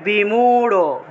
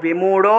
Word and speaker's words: বিমূঢ়: তারপরে বিমূঢ়, বিমূঢ়, বাংলায় বললে বিমূঢ়, কিন্তু সংস্কৃতে এই রটা উচ্চারণ করা যাবে না, সংস্কৃতে ঢ উচ্চারণ করতে হবে, বিমূঢ়, বিমূঢ়।